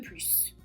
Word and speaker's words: plus: Donc on ne prononce pas le S de plus.